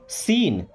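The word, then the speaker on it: scene: सीन, दोस्तों इस सीन word में ना सी हमारा साइलेंट है। एक बात ध्यान रखिएगा, एस के बाद अगर सी आ रहा है तो सी को नहीं पढ़ा जाएगा।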